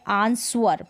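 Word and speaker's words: answer: में और यहां पर जैसे ये है आंसर इसको आप पढ़ने हैं आंसर तो गलत है आंसर पढ़ेंगे क्योंकि डब्लू साइलेंट है तू है होल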